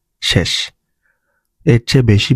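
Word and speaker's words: 紙: তো এটা কামি বা কাগজের কাঞ্জি। এটার ভিতরে অনেকগুলো স্ট্রোক আছে, আপনার নিহন বা সাইটে গেলে এটা নিজে লিখে দেখতে পারবেন। এটা অনের হচ্ছে উচ্চারণ হচ্ছে শি, কুনের উচ্চারণ হচ্ছে কামি।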